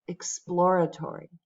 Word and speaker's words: exploratory: The last one, the second syllable gets the stress. Exploratory.